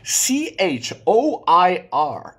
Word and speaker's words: choir: top 10 choir was is a difficult one c h o i r and you pronounce it Qui C choir c w i